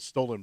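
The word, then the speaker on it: Stollen: it's actually actually called it's called stolen bread it's not spelled like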